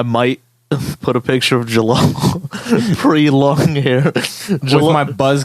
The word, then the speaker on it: Jalal: She said halal, and I'm like, technically yes. Yeah, technically yeah. She's like, is halal here? And I'm like, it's pronounced Jalal. I'm not Hispanic. That J is not an H.